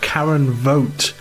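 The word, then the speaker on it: Voigt: That was Eel Heath and Karen Vote here on the Salopian mixtape. And spelled how? V O GT T. Yes. Well, well done with uh vote.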